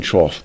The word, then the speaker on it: trough: Trough rhymes with cough. The animal feeding trough below has the same shape as a wave trough.